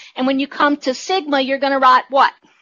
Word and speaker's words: sigma: What you really need to know from this slide is that this is pronounced the Greek letter sigma.